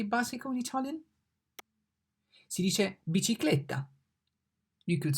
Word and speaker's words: bicicletta: B, bicicletta. The B pronounced like B in banana. B, banana. Ba, B, bicicletta. C, ciclone.